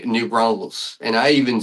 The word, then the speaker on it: New Braunfels: to do it y so I I'm even pronouncing it wrong yeah so so say it Alicia the way you say it new Bron Falls new Bron yes yeah you did great you